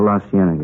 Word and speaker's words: La Cienega: Oh, La Cienega, yeah.